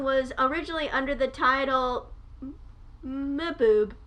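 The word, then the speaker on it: Mbube: under the title boob i'm not sure how to pronounce it it's m-b-u-b-e because it's like because it's african and i think that's how you pronounce stuff like that when like the m and the b are right next to each other and babe the song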